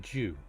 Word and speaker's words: Zhu: So ZHU, that's pronounced Jew. Ju, so ZH is pronounced as a J.